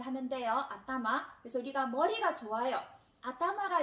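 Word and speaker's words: あたま: 그래서 우리가 머리라고 발음을 할 때는 아따마라고 발음을 하는데요. 아따마.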